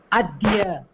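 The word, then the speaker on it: अद्य: adhya, see correctா pronounce, the pronunciation will be இது plus ya.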